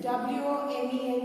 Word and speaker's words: women: Women, W-O-M-E-N is pronounced as women, dash with each other, and the verb given in the bracket is quarrel.